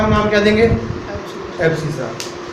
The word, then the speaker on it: abscissa: जो इसमें x वाला पार्ट है इसको हम बोलते हैं एब्सिसा, स्पेलिंग चेक कर लेना एक बार। एक्स वाले पॉइंट को हम क्या बोलते हैं, एब्सिसा।